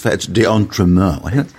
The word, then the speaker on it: d'Entremont: It's d'Entremont. We're close. It's Yvette d'Entremont, and correct pronunciation on the SciBabe, but I don't think that was our concern.